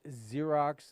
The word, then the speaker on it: Xerox: names out there like xerox and stuff like that it's just spelled with an x yeah who in the world funny friend made the x sound like a z let's go go through